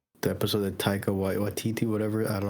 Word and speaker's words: Taika Waititi: Because it's Taika Waititi.